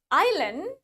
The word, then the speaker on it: island: Japan the next is when the I is followed by the s that is silent especially in the word Island but Island let's say